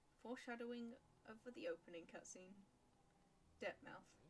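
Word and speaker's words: Dirtmouth: of the opening cutscene depthmouth fading town disappointingly not pronounced like plymouth ho there traveler i'm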